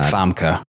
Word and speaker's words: Famke: I think it's like Famke. I think that's how it's pronounced.